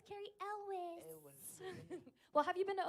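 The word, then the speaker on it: Elwes: do you say his last name El Elis Elis the guy from Saw right Elis okay go Elis di knows ah that must have been a hard preschool life for that guy it's Carrie Elis well have you been to Oklahoma City before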